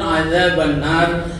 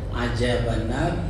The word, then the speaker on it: adzabannar: Penyebutan adzabannar itu terkadang salah pengucapan. Saya pernah ngetes staf saya waktu saya wakil rektor dulu di USU. Coba lafalkan doa sapu jagat. Jadi pada umumnya mengatakan dengan zai, ada juga dengan jim, ajabanar atau azabanar.